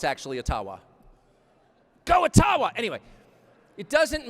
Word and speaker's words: Ottawa: It cannot be taken from you no matter who is in Ottawa, or as we say, Ottawa, which, by the way, is the correct pronunciation according to my friends in the Ojibwa community.